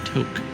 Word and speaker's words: Tok: at least not like an idiot it is pronounced Tok so that's where we're going what a miles